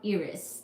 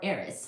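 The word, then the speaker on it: Eris: Tio are you ready this was about Iris e r i s or Aris however you say that word now we will talk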